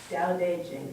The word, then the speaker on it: Tao Te Ching: And even though it has T's and C's, it's pronounced Tao Te Ching.